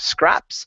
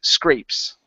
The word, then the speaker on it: scrapes: So when it's vowel plus a consonant and an E, that vowel before the consonant is typically a long sound. So instead of scraps, this is scrapes.